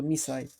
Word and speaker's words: MiSide: Yeah, it's pronounced like Mita. So me side.